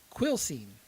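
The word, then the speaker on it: Quilcene: keny Washington is that I don't know but it's spelled q i l c NE e gotcha quill scene sounds like a cheap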